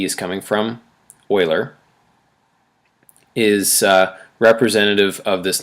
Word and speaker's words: Euler: called euler's number and you might be thinking euler what do you mean euler i mean leonard